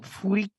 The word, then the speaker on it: Fukui: Is it Fuki? You're getting much closer now. You removed all the saliva. Fukui-san. Fukui-san. Much closer. Fukui-san. Good job.